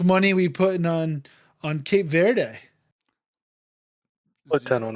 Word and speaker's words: Cape Verde: But the one of the other newest countries is it Cape Verde? Is that how it's pronounced?